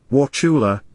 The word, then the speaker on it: Wauchula: bloody bucket Bridge Wauchula bet you can't say it right anyway wachula Florida is the home of